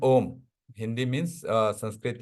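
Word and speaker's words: ཨོཾ: have only dot तो this one इ pronounced S ओम है ना जस्ट लाइक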